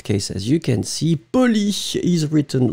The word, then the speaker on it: poli: In fact, the masculine form is extremely short, P-O-L-I, and the feminine form will be pronounced exactly the same way, but then you add the E in the end.